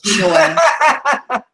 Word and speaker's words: Inoue: No, it's pronounced. People are pronouncing it. They're not pronouncing it the correct way. I know. I just took the Japanese lesson. It's actually Inoue. Yeah, it's Inoue.